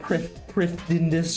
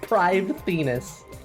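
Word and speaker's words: Prifddinas: i'm sorry i'm sorry official pronunciation pride bribe venus not pristinus or privindus or anything like that it's private venus shitty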